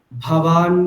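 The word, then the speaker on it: भवान: ভবান ভেষ, এখানটায় দেখুন দুটো ভকার আছে, দুটো ভকারকে কিন্তু মহাপ্রাণ উচ্চারণ করতে হবে, অল্প প্রাণ বললে হবে না, ঠিক। ভবান ভীষ্মশ্চ কর্ণশ্চ, বলুন।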